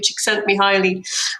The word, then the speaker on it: Csikszentmihalyi: I hope I pronounce his name properly. Csikszentmihalyi.